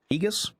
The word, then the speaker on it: Aegis: That actually is pronounced ages, by the way.